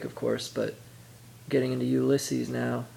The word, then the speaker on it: Ulysses: I already read Finnegan's Wake, of course, but getting into Ulysses now, or Ulysses, that's how he pronounced it.